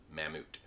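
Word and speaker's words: Mammut: it is pronounced katadyn this company started out in the 1800s making ropes down the street in the back of their house in switzerland and it is pronounced mamut this brand name most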